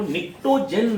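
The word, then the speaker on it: pnictogen: तो फर्टिलाइजर के रूप में यूज होने के कारण इसको निक्टोजेन नाम से, इस फैमिली का एक नाम क्या हो जाता है, बी साइलेंट होता है, निक्टोजेन पढ़ते हैं, निक्टोजेन फैमिली भी बोलते हैं।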